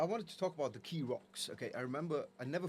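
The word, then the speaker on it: Keeraghs: little island formation called pronounced the Keerocks, but it's spelled k e e r a g h. But they say Keerocks, though. But people say They say Keerocks.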